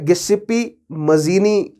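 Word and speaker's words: Giuseppe Mazzini: Year old Italian named, अब देखिए इसको कई तरीके से प्रोनाउंस किया जा सकता है, गिस्सिप्पी मजीनी, अगर इसको प्रोनाउंस करें तो क्लोज रहेगा सबसे ज्यादा इटालियन प्रोनाउंसिएशन के। ठीक है, सो इंग्लिश में गिजेप मजीनी भी कह जाते हैं, लेकिन बट we will pronounce it एट गिजेपे मजीनी, it sounds cool, right.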